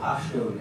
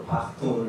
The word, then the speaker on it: Pashtun: Despite the fact that this area here, this whole area here, is what they call the Pashtun area, or Pakhtun, or sometimes you'll see it in old books, they'll spell it P-A-T-H-A-N, Pakhtuns.